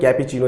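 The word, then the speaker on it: cappuccino: आप जानते हैं कि कैपेचिनो इसे बोला जाता है, इसे प्रोनाउंसिएट किया जाता है, और कैपेचिनो मीन्स कॉफ़ी होती है, कॉफ़ी का एक प्रकार होता है।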